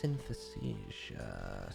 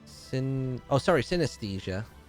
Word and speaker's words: synesthesia: What's synthesia? Synthesia. How do you spell it again? Synesthesia.